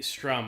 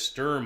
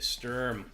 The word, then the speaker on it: Sturm: time which is the strum I call it the strum it's actually this Sturm I guess is how to pronounce this term if you